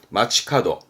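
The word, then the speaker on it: 街角: 오바 그러다가 뿔 각자인데요 모퉁이를 말하죠 여기서 길모퉁이 발음은 마치카도 마츠카도 근데 마츠카도를 요렇게 씁니다 번화가의가 길 가짜거든요요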